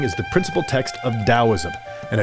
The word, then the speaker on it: Taoism: Chinese and Western cultures, most people spell Taoism with a T, but most people pronounce it with a D.